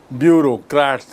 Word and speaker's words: bureaucrat: are also helped by bureaucrats and politicians bureaucrats bureaucrat see the spelling of the word bureaucrat b-u-r-e-a-u but pronunciation is bureau b-u-r-e-a-u pronunciation challenge you have a bureau bureaucrats and politicians so